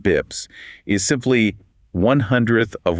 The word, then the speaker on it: bps: So, a basis point, often abbreviated as bps or pronounced bips, is simply 1/100 of 1%.